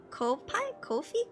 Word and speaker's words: Ko-fi: Kofi? Coffee? It can be coffee, Ko-Fi or coffee. Yeah, I've seen people pronounce it both ways.